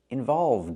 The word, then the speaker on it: involved: We need a D, involved. And the pronunciation is important. Involved in. Link the D sound with the next word in, din.